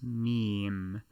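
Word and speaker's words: ميم: it will be correct this letter is the m sound in english and it is known as meme and if you browse the internet quite often you will probably be familiar with this term yes as an enter as an internet meme but that is the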